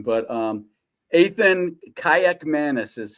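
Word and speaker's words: Kaliakmanis: have to pronounce his name, but um, Aan Kayak Manis is how it is pronounced is my understanding.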